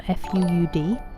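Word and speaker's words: Fuud: Um they're from a company called food or fud I think is actually supposed to be pronounced but I can't bring myself to. It's f u u d foxtrot uniform uniform delta.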